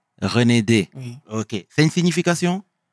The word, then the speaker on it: Renedé: Alors, moi, j'ai mal prononcé ton nom de famille. Oui, c'est Souleymane Renedé. Renedé.